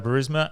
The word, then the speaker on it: Burisma: So Burisma and Rhymes with charisma.